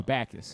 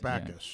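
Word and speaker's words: Bacchus: No, Backus. Eric Backus.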